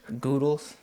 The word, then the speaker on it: Goodles: Goodles. It's like noodles but spelled with good.